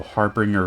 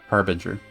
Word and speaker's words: harbinger: Duke's decree could be a harbringer of War indeed Harbinger that's how you say it if we are to